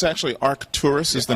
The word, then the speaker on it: Arcturus: There was a conspiracy saying that in the constellation of Arcturus or Arcturus, can you pronounce it for me? Yeah, it's actually Arcturus is the name of the star, right.